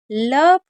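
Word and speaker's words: love: लव। अब देखिए लव में ओ साइलेंट होता है। अब ऐसा क्यों है? क्योंकि कुछ वर्ड मीनिंग में ओ साइलेंट रहता है।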